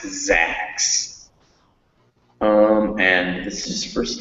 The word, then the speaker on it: Zax: zax that's when you see that word that's pronounced zacks um and this is first line short just